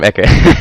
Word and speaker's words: Ecke: About this, sorry about interrupting you, but on the on Rize Gaming, the Sand King, it's actually German. It means corner, and it's pronounced Ecke.